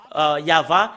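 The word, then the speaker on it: יהוה: C'est le livre de Torah qui stipule bien que c'est Yahva qu'on le prononce, et c'est avec cela qu'on le prononce au ciel des cieux, Yahva.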